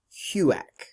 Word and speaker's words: HUAC: on American Activities Committee we pronounce the abbreviation as Hugh AK HUAC Hugh AK house on American Activities